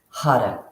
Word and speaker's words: Har: going to be using the Mantra hard h a r you're going to roll your R and if you can't roll the r as I can't we do like a du sound or l sound so you're flicking your tongue against the roof the your pallet so